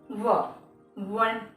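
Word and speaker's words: one: Wall sound ही है, लेकिन pronunciation में क्या आता है, वन, वन। तो कैसे प्रोनाउंसिएशन आ रही है इसकी, व से, वन, व, राइट।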